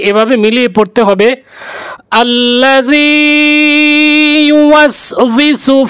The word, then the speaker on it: ইউওয়াসউইসু: এই আয়াতটি বলতে গিয়ে অনেকেই ভুল উচ্চারণ করে থাকেন, ইউওয়াসউইসু অনেকেই উচ্চারণ করতে পারেন না, তাই আমি বানান করে বলতেছি, ইয়া পেশ ইউ ওয়াও সিন জবর ওয়াস, ইউওয়াস ওয়াউজের উই, ইউওয়াসউই সিন পেশ সু, ইউওয়াসউইসু, ইউওয়াসউইসু।